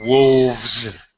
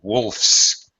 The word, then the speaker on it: wolfs: to conjugate the verb I don't say he wolves down a sandwich I simply say he wolfs now notice my pronunciation